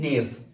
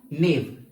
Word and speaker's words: gnaw: पहला वर्ड हमारे पास है नेव. क्या? नेव. GNAW. इसको हम प्रोनाउंसिएट करते एज अ नेव.